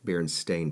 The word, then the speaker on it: Berenstain: example pulled up but it is stained sta I in berenstain bears Wow and it's pronounced Berenstain all right here we